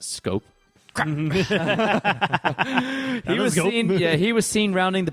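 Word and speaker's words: Schoop: Jonathan Shoup pronounced Scope.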